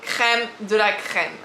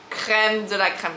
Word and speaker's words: crème de la crème: So I say in French because we use the R. In French, we really emphasize to the R. It's the way you pronounce the R, okay, we R. But my friend, and when I heard in America, it's like crème de la crème, okay, la crème de la crème.